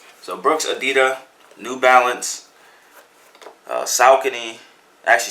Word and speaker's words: adidas: adidas when I even adidas is called it's pronounced at DITA so Brooks edita New Balance South Guinea actually something doesn't make